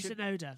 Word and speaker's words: Tsunoda: Yeah, he's Yuki Tsunoda. Tsunoda. I've just remembered that without having to Google it. Yeah, Yuki Tsunoda. Right, starts with a T, but the T is silent.